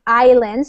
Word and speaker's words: islands: to live on the islands so in this word in English we don't pronounce the s AI Islands they were